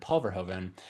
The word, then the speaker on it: Paul Verhoeven: Well, as Grant is saying, first name Pulver, last name Hoven, because it's just, is it, how do you say it? Like Paul Verhoeven. It's just all one word, Paul Verhoeven.